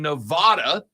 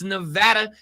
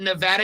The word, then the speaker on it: Nevada: is from Nevada and she has repeatedly corrected me that that is Nevada I spent probably 34 years of my life saying Nevada and then I was told by someone from Nevada that it's Nevada and in Nevada they say it Nevada it's Las Vegas Nevada